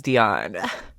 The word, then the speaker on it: Dionne: Actually, let me make sure I'm pronouncing this right. I will be right back. I was right. It is Dion.